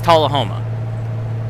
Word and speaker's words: Tullahoma: Alright, so apparently it is Tullahoma. That's the official YouTube video that Caddy Monster pulled. So we're going to have to call it... Now we have to call it Tullahoma.